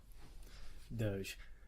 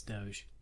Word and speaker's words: Doge: very Pony things wow Doge uh I would pronounce that dog but that's just me it's Doge okay believe you me it's